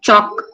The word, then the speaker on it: chalk: L is silent, it is chalk.